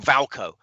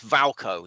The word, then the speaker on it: Wilco: And he pronounces Wilco Valco. It's Valco.